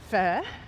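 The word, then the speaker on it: phở: The day before I had fur, which is a way that Vietnamese locals say faux, which of course they know, they know what they're saying because it's in Vietnamese.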